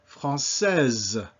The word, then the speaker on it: française: Française. You now pronounce that E. Because it's between two vowels, that S is Z, Z sound.